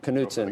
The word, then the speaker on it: Knutzen: He is, are we pronouncing it okay today? We are, Let's do. Knutzen, multi-asset chief investment officer at Neuberger Berman.